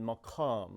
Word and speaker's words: maqam: Okay, in Arabic they will spell it with a Q, so and they'll have a thicker pronunciation of it, maqam, like that.